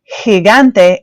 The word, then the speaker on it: gigante: hop down to G there are two ways to pronounce g also it can be a g or a ha in Spanish so let's look